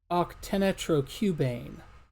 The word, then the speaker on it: octanitrocubane: Oh, octanitrocubane. That's how it's pronounced.